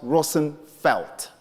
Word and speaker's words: Roosevelt: as I said and Roosevelt is a bastardized Dutch name with a real census pronounced Rosenfelt then it Dutch people